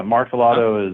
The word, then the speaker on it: Martellotto: Yeah, Martellotto is the American pronunciation, and that works. I'm American. That's how I pronounce it.